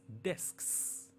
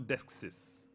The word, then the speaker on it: desks: And the plural of desk, D-E-S-K-S, is desks. Desks. It's not deskses.